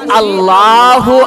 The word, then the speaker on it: আল্লাহ: বেশি সওয়াব প্রদান করবেন সুবহানাল্লাহ নামাজ শুরু করি আল্লাহু আকবার সবাই পড়েন জোরে পড়েন আল্লাহু আকবার শুদ্ধ